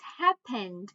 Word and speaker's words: happened: Right, it's happened, right, with D at the end.